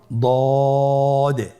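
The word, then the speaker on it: ضاد: আবার বলুন দ আলহামদুলিল্লাহ দদ হরফটিও মোটা হরফ মোটা করে উচ্চারণ করতে হবে দদের মাখরাজ জিহ্বার গোড়ার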